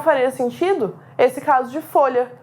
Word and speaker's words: folha: sentido esse caso de folha. Pare e observa a sua articulação. Folha. Você faz um barulho só para pronunciar o L e o H. É o mesmo som.